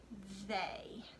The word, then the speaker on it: they: So the first tricky word that we are going to learn is the word they. They. Spell it with me. T-H-E-Y spells they. I underlined the TH because we know that TH together says th, but in this particular word, the A sound is made with the letters E and